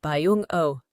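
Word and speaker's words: 병오: Jungkook's Daymaster is Yang Firehorse, and in Korean Saju, it is pronounced Byeong-Oh.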